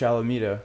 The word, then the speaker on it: Alameda: You got to now take the next jump, and So now with Florida State and Coach Alameda, is that how you pronounce her name?